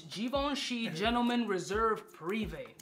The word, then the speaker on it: Givenchy: by the house of Givenchy and that's not givanchi or givench no it's Givenchy gentlemen Reserve private it's